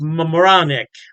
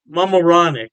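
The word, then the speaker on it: Mamaroneck: York state Poughkeepsie and I believe is pronounced moronic mamaronic yeah don't quote me on that pronunciation I tried my best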